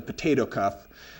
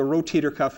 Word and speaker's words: rotator cuff: or tendinous cuff, or some of my patients will mispronounce it as the potato cuff. So that's what the rotator cuff is.